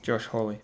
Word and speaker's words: Hawley: Yeah, I know, because this guy is basically, how do you pronounce his name again, sorry? Josh Hawley.